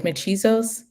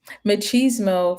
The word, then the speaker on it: machismo: is um you mentioned that how do I pronounce it again is is machos machismo machismo pardon me machismo for you said more that's a common term